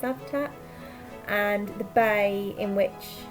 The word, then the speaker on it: Cavtat: spelt the a bt 18 cuffed up it's pronounced laughed at and the bay in which it was located